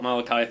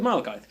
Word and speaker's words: Malekith: They call it Malekith. I've never heard it pronounced outside of this movie, so I'm going with Malekith.